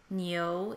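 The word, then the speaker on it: 牛: So that is the character for cow, also pronounced Niu in Chinese.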